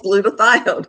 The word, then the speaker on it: glutathione: It you said what is glutamate and I said no doctor I am pronouncing it correctly and it's glutathione your cell that is your master antioxidant that your cells make.